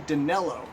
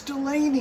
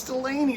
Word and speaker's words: Delaney: it so specifically because i had his name wrong i'd call him joe dinello and my friend lawson lambert would say it's delaney it's delaney so it kind of